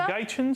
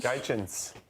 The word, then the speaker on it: Gaetjens: Is it Gaetjens? Gaetjens.